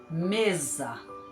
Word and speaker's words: mesa: que é um s mesa mesa vamos jantar e eu vou p a mesa mesa está com s porém entre duas vogais o som dezer mais uma palavra com